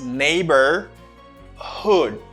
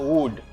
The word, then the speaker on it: neighborhood: repeat after me neighbor it's not neighbor it's neighbor Hood it's not wood neighborhood neighborhood my dad